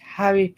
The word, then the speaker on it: Harry: No, you got to pronounce the H. Harry Potter.